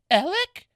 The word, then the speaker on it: Alec: Well, it's spelled like Alex, but it's pronounced Alec.